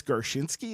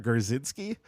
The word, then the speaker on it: Gershinsky: I was like wait it's gershinsky it's not garzinski so yeah that made